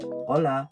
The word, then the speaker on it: hola: Mexico and then there the H is always silent so for example if you're going to say hola did you hear that I said hola not hola if you